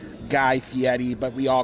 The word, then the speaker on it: Guy Fieri: Guy himself said that his name is pronounced Guy Fieri, but we all call him Guy Fieri.